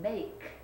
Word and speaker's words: make: Now be careful on this one, because if you look at the ache, it has a silent letter at the end. The last sound in make is K. You don't hear the E.